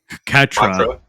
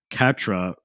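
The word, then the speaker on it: Quatre: But Catra. But the way it's like spelled is like Quotra. But Catra finally approaches Troa to ask for forgiveness as Quotra and Noin fight the new faction, White Fang.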